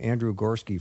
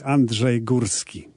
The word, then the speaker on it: Andrzej Górski: because I know that you've Americanized your name, Andrew Gorski, for me. But just give everyone a chance to hear it how it should be pronounced. Yes, I did. I just wanted to make your life a little bit easier. And you are. My true name is Andrzej Górski.